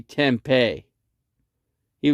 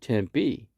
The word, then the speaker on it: Tempe: because tempe is called tempe and then i pronounced it out for him you know you say you say tempe tempe like p 10 p you know and that's how you say it but he would